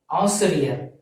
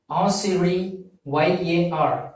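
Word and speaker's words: ஆசிரியர்: And by the same way, if you are a teacher in some schools, your profession is Asiriyar, A-A-S-I-R-I-Y-A-R, Asiri, Y-A-R, Yar, Asiriyar. So this Asiriyar represents teacher in Tamil.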